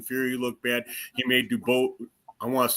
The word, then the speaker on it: Dubois: I read it DeBose, but I know his name's Dubois.